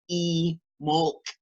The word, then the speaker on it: Imbolc: A lot of people say it's also pronounced in the old ancient way, E-Molc, which is pronounced like double E-M-O-L-C.